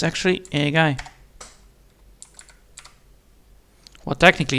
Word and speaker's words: 例外: 外例外例外 Ah, the air is not spoken out, so it's a guy. Right? 例外例外例外例外 Yeah, a guy. So that's how you say it. It's not Ray guy, but it's a guy.